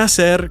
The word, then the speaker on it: hacer: Be aware, however, that because the H sound is silent in Spanish, remember it's hola, not hola, it can be tricky to distinguish the 2 consecutive A vowels between voy a and hacer.